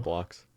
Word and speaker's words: Roblox: Roblox.